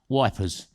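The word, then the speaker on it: Ypres: and just further around we've got eep or as churchill would call it and because it's spelt y p r e s church's name for it was not eep but wipers uh and that's what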